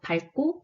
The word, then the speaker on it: 밝고: 그래서 밝다, 밝고, 밝기, 밝게, 밝아서가 표준 발음입니다. 제 경우에는 뒤에 기역이 왔으므로 리을로 발음해서 밝고가 표준 발음이 되겠네요.